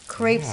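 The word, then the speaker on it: crêpe: duels I don't know my daughter is always saying it's not crepe Mom it's crep crep yeah almost ready you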